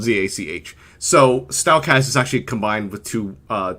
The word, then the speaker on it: Stalkaz: So, Stalkaz is actually combined with two names. Stal is like the first part of Stallion, and then the Kaz part of K-A-Z.